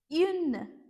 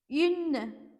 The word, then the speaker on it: une: But yeah, just to simplify it, you can just like the way you pronounce I in French, E, but you just need to pronounce it with the rounded lips.